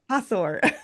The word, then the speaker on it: Hathor: How do you pronounce it again? Do it again. Hor. Hathor.